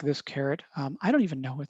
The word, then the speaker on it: caret: So caret and $sign, caret, by the way, it's spelled like this, caret. I don't even know what that means actually, but it's pronounced like carrot.